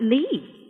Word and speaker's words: Lits: I know it's spelt Lits, but over here they pronounce it Lee.